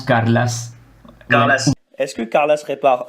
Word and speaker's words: Carles: Non, je devrais peut-être dire son prénom, Carles, c'est ça? Oui, mais on prononce Carlas.